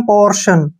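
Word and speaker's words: portion: टी आई ओ एन इसको पढ़ते हैं हम पोर्शन पोर्शन में यहां पर टी आया है और टी को हमने श पढ़ा है ठीक तो ऐसा क्यों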